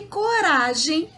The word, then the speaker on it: coragem: E coragem, o Rá também se destaca em relação às outras sílabas.